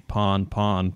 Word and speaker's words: pan-pan: with urgent situations, and always stylize the pon-pon pronunciation.